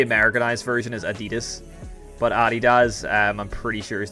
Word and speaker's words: Adidas: That's the correct pronunciation of it is Adidas cuz it's German. Um, but it's funny that Adidas seems to be like,